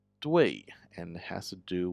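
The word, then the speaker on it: 兑: Last one is pronounced due and it has to do with a lake.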